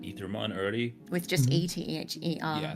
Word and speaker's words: Aethermon: Yeah, so I think typically the pronunciation for the AE hyphen letter would be Aethermon, but we've been leaning towards Aethermon in part because it reads slightly better for a modern American audience, and more than that